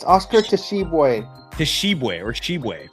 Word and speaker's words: Tshiebwe: Tshiebwe or Shibwe. I'm guessing the t is silent.